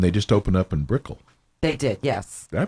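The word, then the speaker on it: Brickell: they do and they just open up in Brickle they did yes did I pronounce that right yeah Bickle see when you're in Palm Beach you don't it's not brick house it's Brickle Brickle okay they just open up a new new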